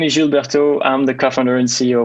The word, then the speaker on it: Gilles Bertaux: this right all right I'm going to go all FR and pronounce it by way so jilberto jilberto itose it's good it's good